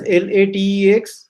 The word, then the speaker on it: LaTeX: It is spelled as LATEX, but it is read as LaTeX.